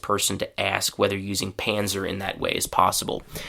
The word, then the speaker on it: Panzer: The German word, uh, German pronunciation, sorry, is pansa. And so, in English, we just, as I said, we say panzer.